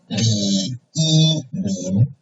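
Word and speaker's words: Lǐ Yīmín: Okay, and this Chinese teacher's name is third tone, first tone, and second tone, Li Yimin.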